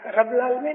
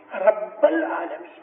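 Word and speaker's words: رب العالمين: रब्बुल आलमीन, रब्बुल आलमीन नहीं, रब्बुल आलमीन। बे के ऊपर स्ट्रेस करो, रब्बुल आलमीन।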